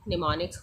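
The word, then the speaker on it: mnemonics: Am silent है, निमोनिक्स है ये।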